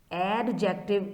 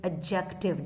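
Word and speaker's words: adjective: लेट me tell you that एडजेक्टिव इज नॉट the proper pronunciation it इज एडजेक्टिव डी is silent what is एडजेक्टिव अ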